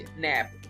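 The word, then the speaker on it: knap: इसको कहते हैं किसी चीज से तोड़ना, अलग करना, तोड़ के नैप। सो के इज साइलेंट।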